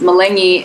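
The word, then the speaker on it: meleni: here I learned that the word for watermelon is Mullaney which rhymes with filet me and I like to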